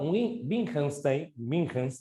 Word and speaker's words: Wittgenstein: Por otro lado, Wittgenstein, se pronuncia de esa manera, sí tenía ideas sobre el lenguaje, ¿no?